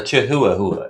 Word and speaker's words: chihuahua: The totem for this message is a chihuahua or a chahuahua if you wish to pronounce how it's spelled.